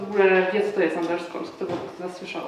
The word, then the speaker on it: Underscores: Dodajemy na koniec S i wymawiamy razem jako jedno słowo, czyli underscores.